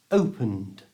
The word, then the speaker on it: opened: on his bike now this verb is pronounced with the voiced D sound so it's opened if in a sentence